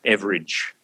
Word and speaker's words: Everage: comic figure, Dame Edna Everage. Everage, of course, being an Australian pronunciation of the word average, Dame Edna Everage, who lived down the road here in Moonee Ponds.